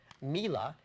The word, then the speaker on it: Mila: is a Ukrainian singer-songwriter her name is Mila mlia not pronounced myla Mila in her guitarist not trummer